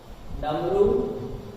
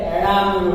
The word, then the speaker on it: डमरू: फिर इनका उच्चारण होता है डामरू डामरू, तो डामरू नहीं होता, क्या होता है? डमरू होता है।